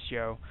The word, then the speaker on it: SjoW: i can only imagine he pronounces his seo considering i'm pretty sure he's from a scandinavian country so i'm going to assume yes it's joe um and uh ceo has